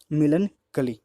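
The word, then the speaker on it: melancholy: मिलनकली, मतलब सॉरी, मिलन कली, इसका जो प्रोनाउंस होगा वो होगा आपका मिलन कली, ठीक है।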